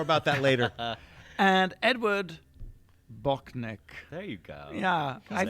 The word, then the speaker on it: Bochnik: And Edward Bochnik. There you go. Yeah. I've been with us. All these years, I thought it was Bochniak. A is silent.